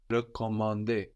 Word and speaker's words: recommander: And you can tell which E sound you need, as the E of recommander, for example, is written with a normal E, like in je and like in le, just an E, where the E of réserver, réparer, is written with a little accent over it, a little dash going up from the E, which lets you know to pronounce a stronger E.